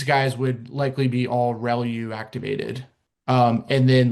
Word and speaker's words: ReLU: The The way you pronounce this is called ReLU. So, ReLU. R E L U.